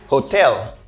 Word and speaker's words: hotel: the next one is Hotel okay Hotel try to say it the same way say hotel here the second syllable I stressed it okay I stress the second syllable I say hotel like Hotel okay can you say